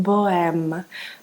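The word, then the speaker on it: Bohème: pronounce and it's pronounced boem with the the H is like silent so so it's Bo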